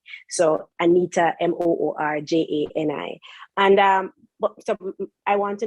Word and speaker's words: Anita Moorjani: And the author is Anita Moorjani. So Anita, Moorjani.